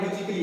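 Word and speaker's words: musically: लेकिन ये एक रूल है, अगर ए के बाद में डबल एल वाई आ जाए तो ए को प्रोनाउंस नहीं करना है।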